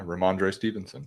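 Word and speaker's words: Rhamondre Stevenson: Yeah, Ramondre Stevenson.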